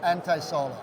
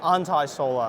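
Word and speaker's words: Antaisolar: Okay, we're here at All Energies 2024 with Wei from, do I pronounce this correctly? Anti-Solar or Anti-Solar? Anti-solar. Anti-Solar. Yeah.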